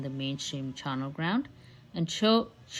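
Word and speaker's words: chöd: So your main cho practice needs to be in the mainstream channel ground and cho it's sometimes even pronounced as ch h o d.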